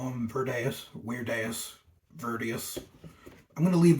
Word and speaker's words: Virdeus: But the actual pronunciation, if we were being accurate, would be Virdeus, because Latin has V's that sound like W's. But because of his strange name, you can call him Virdeus, Virdeus.